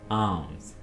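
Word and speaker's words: alms: आर्म्स। यहाँ पे एल को आपने खामोश रखना है, साइलेंट रखना है।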